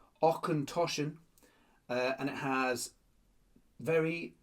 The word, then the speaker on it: Auchentoshan: tells you how to pronounce it. Okenoshen.